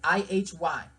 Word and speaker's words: Ihy: named Ihy, which is I-H-Y. And some say you can't pronounce his name unless you're singing. Yes, nigga, you can. It's Ihy.